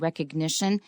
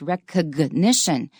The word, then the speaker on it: recognition: And the noun is recognition, not recognition. Recognition, 那个 G 要发音。